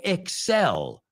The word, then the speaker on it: excel: Pero cuidado que no se pronuncia como en español. Excel, right? It's excel. O sea, el énfasis va al final de la palabra, no al principio, right?